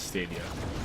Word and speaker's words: Stadia: first first and foremost is it stadia or stadia I'm I'm 99% sure that Google themselves were pronouncing it as stadia okay um so right